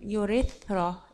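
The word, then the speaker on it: urethra: يوريسترا اللي هي قناة مجرى البول، يوريثرا اللي تي اتش بتنطق سين، تمام.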